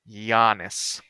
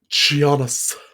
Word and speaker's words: Giannis: that name properly what Yannis gianis there's no J it's Yannis it's like when when